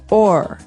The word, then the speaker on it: o'er: So this is a way to make the word over shorter, because over, you can hear it, 2 syllables, over. Mm-hmm. But sometimes we only want one, so we say or.